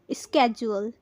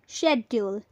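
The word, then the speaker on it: schedule: शशन होगी स्केड्यूल स्केड्यूल American और British में होगी शेड्यूल शेड्यूल इस शब्द को बहुत लोग स्केड्यूल कहते हैं लेकिन अगर आप अमेरिकन इंग्लिश में बोलना चाहते हैं तो इसे आप बोलेंगे स्केड्यूल स्केड्यूल और अगर आप ब्रिटिश में बोलना चाहते हैं तो बोलेंगे शेड्यूल शेड्यूल तो चलिए एग्जांपल से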